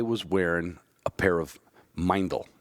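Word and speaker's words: Meindl: wearing a pair of mindel now it sounds like Mendel because you don't know how to pronounce German when the E's before the I it's an I sound so it's mindful I had a pair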